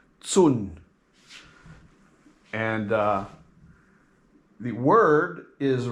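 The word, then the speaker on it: 寸: inch which is spelled the C is pronounced like a TS soon and uh the word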